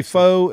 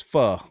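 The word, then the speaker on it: pho: I used to say faux and then I heard it was fu.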